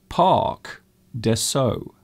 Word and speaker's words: Parc des Sceaux: You can see the spelling is in French, but the pronunciation is very different. Parc des Sceaux. I hope I pronounced that right.